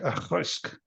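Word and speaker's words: Auchroisk: So the next one is another Diageo distillery, but a lot of people here have troubles pronouncing it. So we call it Achroisk, but it's actually sounds like Achroisk.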